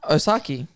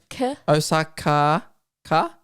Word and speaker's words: Osaka: spell it out Osa osaki close but no suck Osaka yeah osak Osaka yeah yeah that's